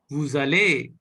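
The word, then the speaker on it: vous allez: Vuzale. Très bien. Wuzale, Très bien. Wuzale. Très bien. So, you are pronouncing it Vuzale. Why? Because it is forming a Liaison. relationship, which is called liaison.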